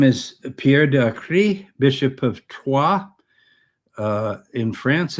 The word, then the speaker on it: Troyes: And he says, this shroud has shown up in our district because Léry is part of the district of Troyes. Americans pronounce it Troy.